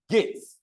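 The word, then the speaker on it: GEIT: For instance, ISACA uses the word gates, G-E-I-T, that's how we pronounce it, gates.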